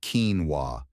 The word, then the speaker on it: quinoa: Keen, like the word keen interest, and wa, like a baby saying wah wah.